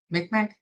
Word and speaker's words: Mi'kmaq: Mi'kmaq Yeah, that one.